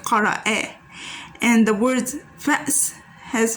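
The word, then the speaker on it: قرأ: We have qara'a has a fatha at the end, so it becomes like that, qara'a.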